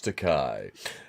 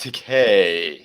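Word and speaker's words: Takei: oh my it's george takai no but um this uh it's pronounced decay because it oh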